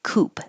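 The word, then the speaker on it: coupe: style of car c-o-u-p-e we don't pronounce the E and it sounds just like Coop like a chicken coop and so you don't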